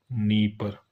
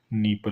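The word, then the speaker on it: Dnieper: देखिए, नीपर है। D silent रहेगा। नीपर।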